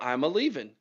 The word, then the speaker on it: Iamaleava: All I needed to do was understand that he was a leaving. Nico Iamaleava.